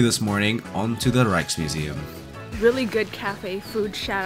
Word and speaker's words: Rijksmuseum: Yeah, we're just on our way now to the, how do you pronounce it? The Rijksmuseum. Rijksmuseum.